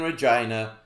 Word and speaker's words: Regina: In 1991, Marvel introduced another Canadian anti-hero, one supposedly born right here in Regina, the city that rhymes with fun.